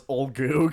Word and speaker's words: Ulgu: The only one we got right off the bat was Olgu, because it's like Olgu. ULGU, and we were like, oh, Olgu.